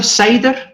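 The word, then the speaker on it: Seiðr: As you know, Seidr, or as some people may pronounce it, Seid, is very misunderstood, particularly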